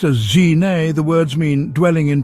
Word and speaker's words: Gzhignas: Pronounced as Gzhignas, the words mean dwelling in peace or simply calm abiding.